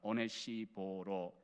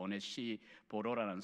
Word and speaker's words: 오네시보로: 발음이 우리말은 조금 그렇긴 합니다. 하기가 어려운데 헬라식으로 그냥 발음은 오네시포로스라고 하는 이 발음입니다.